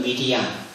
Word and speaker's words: 미리암: 그것이 구약 성경에는 미리암이라고 발음을 해요.